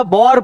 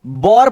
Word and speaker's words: war: Question number 10 में क्या problem है, और ये जो है वॉर पोएम, ये WAR को वॉर पढ़ते हैं या बॉर पढ़ते हैं? बॉर नहीं पढ़ते।